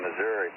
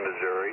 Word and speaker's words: Missouri: O'Fallon, Missouri.